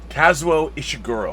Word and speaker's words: Kazuo Ishiguro: the name it is based on if I mispronounce his name Joshua is seguro casual it's AIT's hang on Kazuo Ishiguro I can't get the name the first name